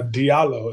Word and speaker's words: Diallo: dialo and what that's all about okay uh Diallo is the pronunciation we're all good I know um you